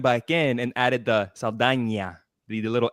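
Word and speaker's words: Saldaña: Zoe Saldana, for example. That's how you pronounce her name, Saldana.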